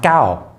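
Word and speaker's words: เก้า: Anyway, but in Thailand, the number 9 is pronounced Gao, which is similar to the Cantonese pronunciation, I think, in some of the southern Chinese dialects.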